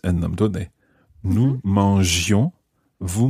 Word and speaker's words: mangions: Nous mangions, vous mangiez. Now, I works the same way in French as E. It keeps the G soft.